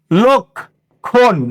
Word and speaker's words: লক্ষণ: গেছে হয়ে গেছে লক্ষণ তাহলে এখানে কি হল ল এর পরে আছে তাহলে ল এর সাথে আছে অটা কি হবে ও হবে তাহলে কি হবে লক্ষণ লক্ষণ লক্ষণ এর সাথে কোন